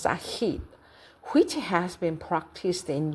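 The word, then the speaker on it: Said: Another example of eurosentrism is a specific form of othering called orientalism analyzed by a butad pronounced sahit which has been practiced in Europe, Britain and America.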